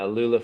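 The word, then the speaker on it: Aluula: I always pronounce it wrong. Like Alula? Is it Alula? Yeah, Alula fabric.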